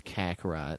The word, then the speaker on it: Kakarot: Spelled with a K, Schweiss. No, it's Kakarot.